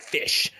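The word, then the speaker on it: ghoti: Bernard Shaw thing where he spells out G-H-O-T-I and says, using English rules, you can pronounce that fish, right? And from station and enough and all that, right?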